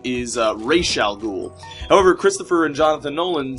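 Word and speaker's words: Ra's al Ghul: because or originally the character was known as razal ghoul like when the when the guy who invented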